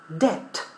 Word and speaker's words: debt: The letter B is not pronounced, so we say debt.